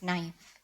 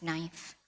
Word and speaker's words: knife: know had a pronounce knife I asked my parents and they told me I went to school and was told we don't pronounce the k I was not ashamed